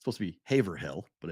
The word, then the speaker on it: Haverhill: leagues Duxbury is specifically Massachusetts correct Haverhill which is spelled h-a-v-e-r-h-i-l-l it's supposed to be Haverhill but it's Haverhill that's how it's pronounced when